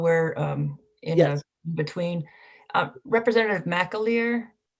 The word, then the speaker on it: McAleer: Representative McAleer? Is that the correct pronunciation? I hope it is. you're on mute, so. Yes, that's correct. Okay, McAleer.